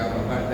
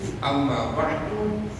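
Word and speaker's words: أما بعد: Banyak versinya banyak. Amma ba'du, amma ba'da, amma ba'd, amma ba'd. Gitu cara bacanya.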